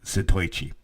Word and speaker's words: Zatoichi: He actually was essentially Zatoichi. That's how he said it. I was saying it wrong at the beginning. Zatoichi.